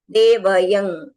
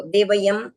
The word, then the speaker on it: देवयं: है तो कल्याणम कल्याणम देवयं चेयंग इस तरह से आपको देवययं देवयं तो देवीयं नहीं करना है देवयं चेयंग इस तरह से इनका उच्चारण हो पजुआ साम स्वामी है स्वामी